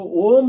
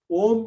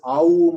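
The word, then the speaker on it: ॐ: say that means om if you separate it out phonetically it is ah ooh and um that's what we say correct of course nowadays some people chant it as aubum and all that which is not correct okay let me make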